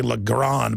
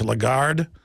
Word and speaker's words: Lagarde: How do you pronounce her name? I always say Lagarde, but it's Lagarde.